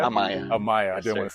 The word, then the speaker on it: Amaya: How you pronounce your last name? Amaya? Amaya.